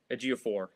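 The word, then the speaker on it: Ejiofor: And of course, Zubie A4, I always struggle to pronounce his name. A Gio4. Got that right.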